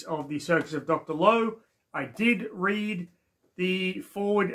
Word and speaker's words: Lao: the circus of Dr Lowe yes it's pronounced low not loud I got that wrong